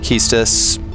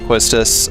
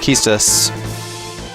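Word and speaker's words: Quistis: No, it's 100% pronounced Keus, but you are free to pronounce it quistus.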